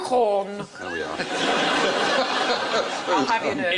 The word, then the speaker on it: Gauguin: Oh, it's not pronounced Gauguin. Hey. You've got two G's. in it. Gauguin.